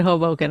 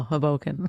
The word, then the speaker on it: Hoboken: day good for what saying Hoboken they said hobo can I go Hoboken they were like what I was like he was saying it wrong your whole life I'm gonna get it